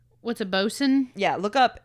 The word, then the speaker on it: boatswain: What's a bosun? Yeah, look up. It's spelled like boatswain.